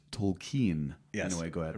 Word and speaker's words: Tolkien: Remember, for that his last name is properly pronounced Tolkien.